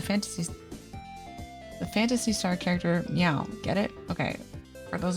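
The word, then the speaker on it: Miles Prower: you who don't know Meow in this case is spelled m y Au U it sounds like like meow like the noise the cat makes um Sega of America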